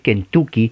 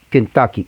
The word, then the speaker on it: Kentucky: Claro, usted lo ve en español y va a decir Kentucky, pero no es U, en realidad es A, Kentucky, es una A gutural, no es A, es A, Kentucky.